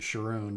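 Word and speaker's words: Charon: Okay, so this is back in the shrine of Karen, the shrine of Karen. I like to pronounce it Sharoon just so I don't say Karen.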